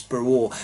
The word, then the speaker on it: BRLO: I'm not sure exactly how you should pronounce that one, but usually in Polish this L has a sort of W sound to it, so I'm pretty sure it's BRLO.